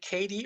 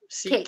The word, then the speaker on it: Kate: Yeah, I don't know if is it Katie or Kate? Kate. Kate, just Kate.